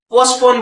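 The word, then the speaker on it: postpone: टी यहाँ पे लगभग लगभग साइलेंट की तरह रहता है फ्रेंड। तो जैसे कि पोस्टपोन है फ्रेंड, तो पोस्टपोन नहीं बोलेंगे, पोस्टपोन बोलेंगे फ्रेंड, पोस्टपोन।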